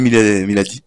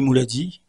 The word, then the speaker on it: Moulady: compagnie d'Ali Miladi. C'est Ali Mouladi, Ali auteur-compositeur. Mouladi. Ali Mouladi. Donc je prononce très mal.